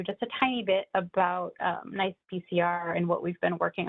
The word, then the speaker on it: NCEPCR: quite the mouthful, so we pronounce the abbreviation NICE-PCR, so I'll be using that from now on.